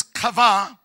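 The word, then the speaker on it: קָוָה: The second word is kava, and it means relaxing, releasing, and waiting in a living hope. I'm saying this again. Kava with Q. Pronounced like Q.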